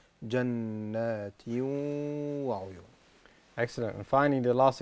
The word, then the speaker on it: جنات وعيون: ماذا أفعل؟ أفعل شيئين. أول شيء أدغم التنوين في الواو فأقول جنات. ثاني شيء غن بمقدار حركتين فيصير النطق جنات وعيون.